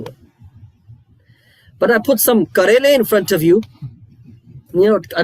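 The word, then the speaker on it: کریلا: But I put some karele in front of you. I don't know if you know what karele is. Bitter what? Bitter melon. Bitter melon? What's the Sahih pronunciation in the Urdu language? Karela.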